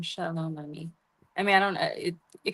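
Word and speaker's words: עמי: Ami. Yeah. But it's it's Hebrew. The my people. Ami. Yeah. Ami. Okay. All right. The Lord of hosts is his name. Shalom. Ami.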